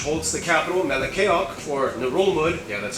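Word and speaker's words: Ngerulmud: The largest one being Babeldaw Island, which holds the capital Melekeok, or Narulmud, yeah that's how you pronounce it, which is the least popular capital in the world with only about 400 people.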